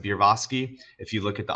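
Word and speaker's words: Berofsky: So Bierofsky, I think is how you pronounce it, Bierofsky.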